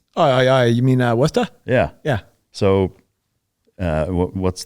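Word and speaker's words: Worcester: so before we go any further all right Worchester it's not pronounced that way right oh you mean uh westa yeah yeah so uh what's the the town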